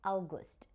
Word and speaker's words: August: In English we call it August, but in German language we call it August.